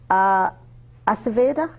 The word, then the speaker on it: Ayurveda: So let's talk about Ayurveda.